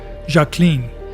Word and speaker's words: Jacqueline: She even preferred the French pronunciation of her name, Jacqueline.